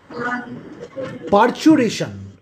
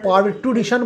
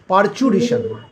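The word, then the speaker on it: parturition: আমরা কিন্তু পারটুরিশন বলবো না, এই টি ইউ এর উচ্চারণটা চু হবে, পারচুরিশন, ঠিক আছে?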